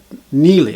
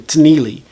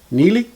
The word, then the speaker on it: תני לי: But it's pronounced Nili. I don't hear the T when the dude pronounces it. It's not like he's saying Tnili.